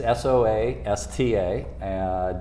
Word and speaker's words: SOASTA: Come spell it. Soasta is S-O-A-S-T-A .com.